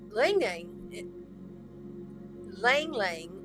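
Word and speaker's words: ylang-ylang: Or you can apply Lang Lang, which is spelled Y-L-A-N-G, is really good for like anxiety, and a lot of the time air signs have an issue with anxiety.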